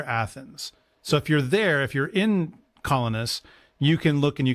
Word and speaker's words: Colonus: This is not revealed to them yet, but this is a place called Colonus, or in Greek it's actually Kolonos, is how you would pronounce it, which happens to be Sophocles' hometown.